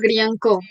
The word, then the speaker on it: Greean: Somos @Grianco. Gri, bueno, se escribe Greean, Grean, pero se dice Grian.